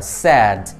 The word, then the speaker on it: sad: Các bạn không được đọc là sad mà các bạn phải đọc là sad.